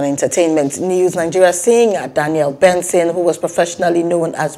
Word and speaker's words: BNXN: where he noted that his new name will be pronounced as benson according to his announcement